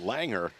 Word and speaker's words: Langrehr: Langrehr, but pronounced Langer.